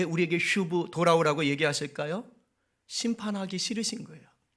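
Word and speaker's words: שׁוּב: 한번 같이 발음해 볼까요? 슈브. 네, 튜브가 아니고 슈브.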